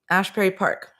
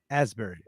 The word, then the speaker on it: Asbury Park: Ashbury Park. Asbury.